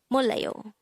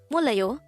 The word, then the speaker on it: 몰라요: dejango word number 153 this is pronounced as a three syllable word the first syllable is mol second syllable is la the third syllable is